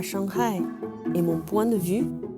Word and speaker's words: Shanghai: génération après 80 de shanghai et vous l'avez peut-être remarqué on prononce la lettre h en chine donc shanghai est la bonne prononciation d'ailleurs on prononce comme